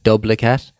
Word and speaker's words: Dublicat: It's like duplicate, but Dublicat, Dublicat. It's for it makes GIFs, like GIFs or GIFs or whatever you call them.